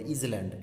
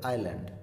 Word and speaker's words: island: আর এখানে দেখো এটাকে আবার অনেকে ভুল উচ্চারণ করে, এই যে ISLAND এটাকে বলে ইজল্যান্ড, এটা ইজল্যান্ড নয় কিন্তু, এসটা সাইলেন্ট লেটার, এটা বলতে হবে আইল্যান্ড, ঠিক আছে।